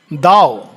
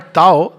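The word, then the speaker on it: Tao: दाओ, हाँ वो दाओ, नॉट ताओ, दाओ, वो प्रोनाउंसिएशन में दाओ कहते हैं, लिखने में ताओ जैसे ताओ हो जाता है, लेकिन इट इज प्रोनाउंस्ड एज दाओ।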